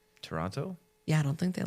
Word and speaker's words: Toronto: I don't think they like it when you pronounce the second T. Toronto?